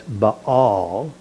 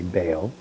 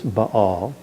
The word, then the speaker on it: Baal: we might say, it's whenever you see two vowels in a Hebrew word, you pronounce each vowel separately. That's why it's baal. Even though we want to say bao, it's baal.